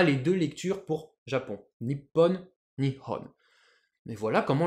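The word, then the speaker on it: 日本: alors aujourd'hui le Japon il arrive qu'on enlève le cocou on dit juste Nipon et puis on va avir une autre lecture qui est aussi Nihon on a deux lectures alors ça c'est un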